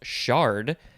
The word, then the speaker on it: chard: this one actually would be pronounced shard even though it's spelled with a ch noun from 1987 and